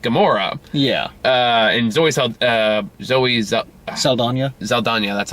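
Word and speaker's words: Saldaña: Saldana, That's how you say it.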